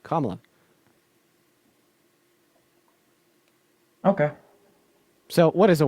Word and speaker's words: Kamala: four different ways no her name is pronounced one way which is I've heard her pronounce her name at least three different ways no in fact she released a YouTube video literally all about how to pronounce her name you have not heard her pronounce her name in any way but kamla okay so what is